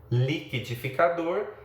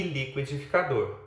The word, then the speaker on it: liquidificador: Nós temos que ter um pouco de atenção também para o fato de que há palavras que apresentam duas formas de prosódia: liquidificador e liquidificador.